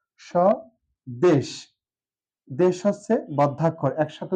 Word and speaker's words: স্বদেশ: আসি স্বদেশ শব্দটি নিয়ে স দেশ এখানে লক্ষণীয় বিষয় স্বদেশ শব্দটির প্রথম যে বর্ণটা আছে সর্টার সাথে আছে ব ফলা কোথাও উচ্চারণ নেই ব এর এখানে হচ্ছে অনুচ্চারিত আর এই স উচ্চারণ